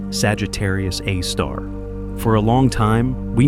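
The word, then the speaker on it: Sagittarius A*: Astronomers called it Sagittarius A, pronounced Sagittarius A star.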